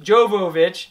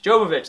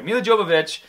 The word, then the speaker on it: Jovovich: uh Mila uh Joe I always say her name wrong mil Jo joic jovovic Jovovich there we go my wife would make fun of me if she was here mil Jovovich she does an amazing